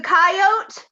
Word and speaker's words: coyote: You were just pointing out the coyote? That's coyote. You pronounce the E, you hills have eyes haver. Coyote. E.